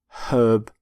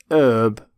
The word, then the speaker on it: herb: Herb. Not herb, by the way, you pronounce the H in the word herbivore. For example, the stomach of a herbivore has several chambers.